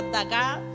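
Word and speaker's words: דגה: en el hebreo es la palabra daga lleva tilde en la última a y significa moverse rápidamente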